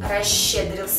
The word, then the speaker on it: расщедрился: дальше идёт удвоенная ща такие слова как расщедрился ще Дрил но пишем мы расщедрился слова такие следующие чересчур